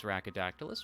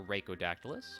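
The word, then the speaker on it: Rhaco Dactylus: doing incredibly well today my name is rackadactylus or reikodactylus either pronunciation is fine I've heard it said a million different ways it's all good and I will be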